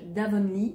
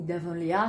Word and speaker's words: Avonlea: qui habite le village d'avonly ou d'Avonlea ça dépend si vous le prononcez à l'anglaise ou à la française qui est donc le